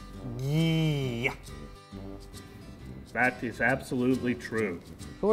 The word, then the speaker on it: Gee: I have 3 advanced degrees in etymology, and your name is definitely pronounced Gee. Dylan, stay in the scene, be with the puppets, go. This is my name. I've had it my entire life. It's G. You're wrong.